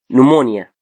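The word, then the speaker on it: pneumonia: بي بعدها ان هنا هتبقى ايه؟ البي سايلنت. فهنقول ايه؟ نمونيا، نيوماتيك.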